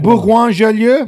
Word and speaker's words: Bourgoin-Jallieu: I can't even pronounce this. Is it Bourgoin-Jallieu?